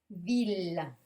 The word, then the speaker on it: ville: sachiez on voit hideuse elle mais on va prononcer il par exemple dans ville là on verra une ville 1000 et le